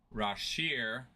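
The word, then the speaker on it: Rasheer: Fleming's first name is pronounced Rashir and Bria's name is pronounced Kobe Bria.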